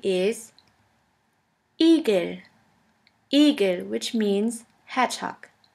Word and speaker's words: Igel: The German word with the letter E is Igel. Igel, which means hedgehog. J. J. The letter J is pronounced like the Y in the word yogurt.